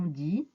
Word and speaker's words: des: nain un yaourt on dit un 11 1 oui 1 1 yaourt l'article indéfini pluriel des chats des ordinateurs des gommes des armoires des qui se prononce d un article indéfini pluriel